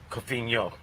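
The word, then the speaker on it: Cofiño: Am I pronouncing it right? Cofino? Yeah, Cofino. Cofino. Oh, that's There's a a little tilde accent. over the end, yeah.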